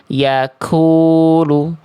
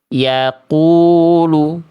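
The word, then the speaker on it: يقول: Dalam praktiknya, misalnya, jangan biarkan pangkal lidah terlalu maju ke depan, atau akan terdengar seperti yaakulu. yaakulu. Tarik napas lebih dalam hingga tertahan. Yaakulu. Yaquulu.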